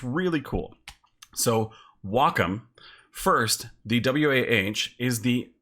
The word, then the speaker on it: Wacom: it's pronounced long ago I thought it was pronounced Wakeham and I was educated it's pronounced welcome and that's totally cool when I hear it's pronounced Wacom I'm like no no no no it's like